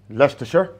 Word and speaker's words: Leicester: Leicster.